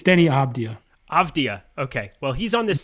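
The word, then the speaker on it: Deni Avdija: or huerta i i need to see his pronunciation correctly it's all right it's not denny avija or i i can't say his name to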